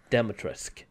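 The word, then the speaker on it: Dimitrescu: And as you can see, it's a door made for Lady Demetresk. That's how you pronounce her name. That's how I heard Ethan pronounce it the first time.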